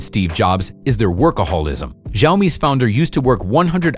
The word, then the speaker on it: Xiaomi: way to pronounce xiaomi you can hear a variety of pronunciation options scio me zayo me si o me exomi and even tsi omi in fact it's much simpler the word consists of two parts shall and me and xiaomi reads like xiaomi with